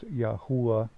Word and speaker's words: Yahuah: Now, I have some pretty convincing evidence to, or undeniable evidence, actually, that the proper pronunciation is Yahuah.